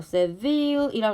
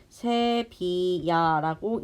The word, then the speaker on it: 세비야: 세빌이라 그랬는데 이거 세빌이 아니라 세비야라고 읽는다 그랬고 스페인에 삽니다.